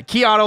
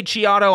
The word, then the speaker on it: Chiato: is your last name pronounced Keanu or Keanu Keanu it's Keanu uh kiato like a macchiato but if you say chiado I'm not gonna yell at you absolutely how do you